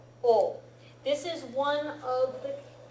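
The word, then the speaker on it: を: yes it's pronounced but it's generally pronounced o not wo the exception being a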